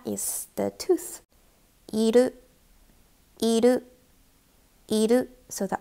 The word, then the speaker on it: いる: いる、いる、いる。So the R is pronounced as L, so remember this.いる is to exist for living things.